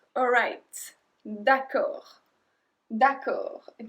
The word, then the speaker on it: d'accord: Numéro 6, alright, d'accord, d'accord. And we don't pronounce the D at the end, and d'accord is one word.